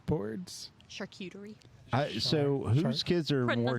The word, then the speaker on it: charcuterie: more cultured than me because they eat char chartreutery boards charcuterie so whose kids are more cultured yeah in